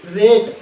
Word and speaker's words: rate: देखो ए से पढ़ रहे हैं तो, और जब कभी दूसरी मीनिंग आती है, दूसरा मतलब ओबेल आता है तो साइलेंट रहता है। ठीक है, तो यहाँ पर हम क्या पढ़ने वाले हैं, यहाँ पर 2 क्या है, ओबेल्स है, तो हम ए को पढ़ेंगे, ई को साइलेंट रखेंगे।